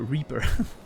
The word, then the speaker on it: Reaper: No, not riper. Reaper.